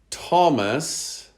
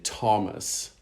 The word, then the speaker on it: Thomas: as in worked or occasionally the th as in thomas the spelling of the